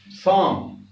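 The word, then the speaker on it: psalm: अब ये देखिए, ये है साम, साम माने भजन। तो हमने बताया था एस से पहले पी आए तो ये साइलेंट है, और ये और देखो एम से पहले एल आए तो भी ये साइलेंट है, ये साइलेंट होगा। ये हम आगे भी बताएंगे एल एम में, इसमें जहां एल का बताएंगे। तो साम भजन।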